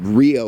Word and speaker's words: REO: the popular band uh rio was reo it wasn't pronounced you know as an acronym but the band took it that way and that's what it